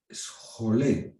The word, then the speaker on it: scholé: Scholé es una palabra griega, la voy a deletrear en griego, ¿no?